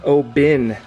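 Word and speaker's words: Oban: He said this is actually pronounced Obin, like a I, even though it's O-B-A-N.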